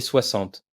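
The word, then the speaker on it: soixante: 30 40 50 et 60. Le X se prononce comme un double S.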